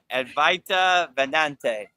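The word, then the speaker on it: Advaita Vedanta: Oh, I just Ryan Shaw says Avedante Vedante. How do you say that? Advaita Vedante.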